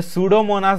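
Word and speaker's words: Pseudomonas: द सुडोमोनास bacteria, P silent है इसमें, द सुडोमोनास bacteria are useful for cleaning of hydrocarbon and oil pollutants from soil and water.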